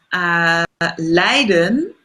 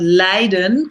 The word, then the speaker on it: leiden: But leiden can also be written with IJ, and then it means to suffer. Ooh, that's good. So in Dutch, the pronunciation of leading and suffering is the same.